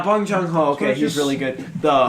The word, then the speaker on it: Bong Joon-ho: Oh yeah, Wong Jung-ho. Whoever directed Snowpiercer. Yeah, it's Bong Joon-ho. Yeah, Bong Joon-ho.